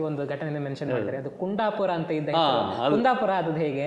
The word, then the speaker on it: ಕುಂದಾಪುರ: ನನಗೆ ಕುಂಡಪುರ ಕುಂಡಪುರ ಆಗಿಯೇ ಉಂಟು, ಅದು COONDAPOR ಆಗಿ ಉಂಟು ಕುಂಡಪುರ, ಏನು ಅರ್ಥವೇ ಇಲ್ಲ ಅದಕ್ಕೆ. ಚಂದದ ಹೆಸರು ಕುಂದಾಪುರ, ಕುಂದವರ್ಮ ಆಳಿದಂಥ ಜಾಗ ಅಷ್ಟೇ ಚಂದದ ಹೆಸರನ್ನು ಇವರು ಕುಂಡಪುರ ಮಾಡಿರಲ್ಲ, ಎಂಥಾರು ಮಾಡ್ಕೋದಕ್ಕೆ ಅಂತ ಹೇಳಿದೆ.